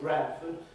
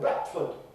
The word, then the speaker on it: Bradford: who live in the city of Bradford don't call it Brford. They call it Bratford. Bratford. and they have a T or a dottle stop before the F in Batford instead of Rford which is what the rest of the English speaking world and the educated people in in Yorkshire call it.